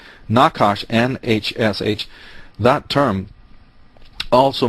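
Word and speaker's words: נחש: from the Hebrew because the word for serpent doesn't have any vowels but it's sort of pronounced like na hush or knock hush Nakash and HSH that term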